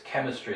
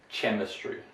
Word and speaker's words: chemistry: They prefer, obviously, to pronounce this quite literally, like letter for sound. So here it's character, it's not pronounced as character, or here it's chemistry, it's not pronounced chemistry, right?